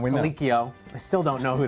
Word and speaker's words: Colicchio: Production team, let me know it's pronounced Colicchio.